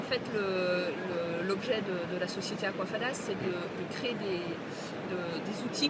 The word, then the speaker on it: Aquafadas: J'ai comme invité aujourd'hui à Claudia Zimmer, CEO de l'entreprise Aquafada. C'est ça, Aquafada. Ça se prononce comme ça.